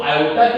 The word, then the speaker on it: iota: इसे बोला क्या जाता है बेटा आयोटा। क्या बोला जाता है इसे आयोटा। इसे प्रोनाउंसिएशन क्या होगी आयोटा।